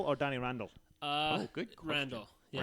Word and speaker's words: Randell: Randall. Yeah. Randall. Really? Yeah, it's Sounds like you made that up on the spot. It's That's Randall.